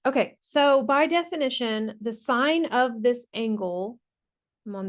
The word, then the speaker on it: sine: So this word is pronounced sine, like a stop sign. And the abbreviation for it is S-I-N. We don't say sin. It does look like sin, but that is pronounced sine. So when you see this